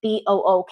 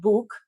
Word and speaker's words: book: Book, for example, BOOK. It's not book, it's book.